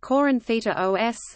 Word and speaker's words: Κόρινθος: Corinth, modern Greek, Corinthos, Corinthos, pronounced Corinthita os, listen, ancient Doric Greek, Erinthos, Corinthos, is an